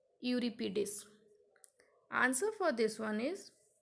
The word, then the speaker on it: Euripides: These names are a bit tricky one, so listen the pronunciation carefully. Aeschylus, Aeneas, Sophocles, Euripides.